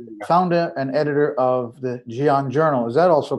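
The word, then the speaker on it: Ghion: Theodros Fikre, who is the founder and editor of the Gion Journal. Is that also correct? Gion.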